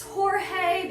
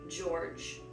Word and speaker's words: George: People were wondering if it's George or if it's Jorge because it's a little bit like, oh, it is, I don't know, but it's spelled like forge. So it is in fact George.